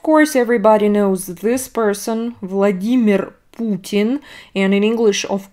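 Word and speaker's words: Владимир: in english it's not vladimir no in russian we stress e vladimir vladimir putin another very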